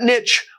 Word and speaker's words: niche: of the word niche, it was the only pronunciation of the word in English until recently when people decided to French it up.